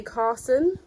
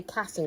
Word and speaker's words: Karssen: So this is Zoe Karssen. I always say Karssen because of how it's spelled. But it's Karssen.